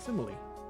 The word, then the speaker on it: simile: I was goofing off on my usual not knowing how to pronounce things, and I think I arrived at the correct pronunciation. Simile.